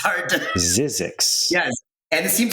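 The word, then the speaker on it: Zzyzx: His name's Gregory Halpern, and the book is called Zizix. How do you spell that? It's like ZZYX or like something like that. It's hard to... Zizix.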